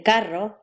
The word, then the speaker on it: carro: R, the R trill, as in carro, and D, the R tap, as in caro.